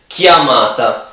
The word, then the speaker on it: chiamata: When the C is alone, it's more it's more likely that it sounds like ch. When it's with another C or an H, it's more likely that it's spelled k, like K. Okay, so k.